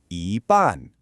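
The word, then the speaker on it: 一半: But if we just change the second syllable to a rising tone, it becomes yi ban. And just like that, it means half.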